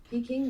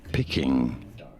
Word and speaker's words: Peking: Saying Peking. It's not actually. Peking. I don't know why. I keep saying that. It's actually Peking. You do want to stress on that king syllable.